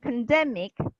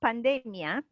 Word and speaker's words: pandemic: stressing the first syllable, and pandemic, second syllable stress, and not pandemia, as we could listen.